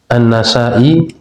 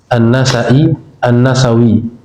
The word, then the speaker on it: An-Nasa'i: Seperti An-Nasa'i itu bisa dibaca An-Nasa'i, An-Nasawi. Itu boleh.